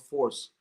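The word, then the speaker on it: PHORCE: came up with this sort of model called force which is spelled p-h-o-r-c-e where p stands for positivity so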